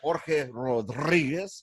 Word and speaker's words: Jorge Rodriguez: Jorge Rodriguez. Right, got Jorge Rodriguez here. I like to pronounce it the right, proper Mexican way.